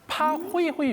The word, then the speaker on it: 파호이호이: 여러분 파 호위호용암 근데 쉽게 이해할 수 있는 방법이 있습니다 자 우리가 그 최불암 선생님이 그 개인 요청에 파가 있죠 자 그리고 뒤에 있는 호이호이는 누가 있죠 둘리가 초록용 쓸 때 말하는